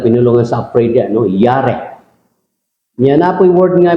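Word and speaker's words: ירא: No, pag-pronounce na yare. Yare. Yare.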